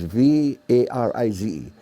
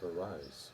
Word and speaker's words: Varize: entertainer, he made it, the real pronunciation is V-A-R-I-Z-E, Varize. Varize. See? But then, you know, in Hawaii we say Varize.